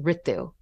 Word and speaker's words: Ritu: way or excuse me my name is pronounced Ritu or actually I was